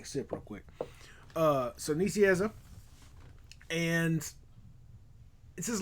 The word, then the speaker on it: Nicieza: I'm not sure how to pronounce his name. It's weird. I'm sorry. I'm American. It's Nicieza. Okay. Good deal. Sorry, I had to take a sip real quick. So Nicieza.